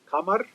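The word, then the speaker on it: قمر: Some of the slangs in Egypt, Q or K can be pronounced as G or Mm. J. Mm-hmm. Mm-hmm. Okay, like we have the word, let's say, Kamar, which means moon, we call it Gamar Mm. with G.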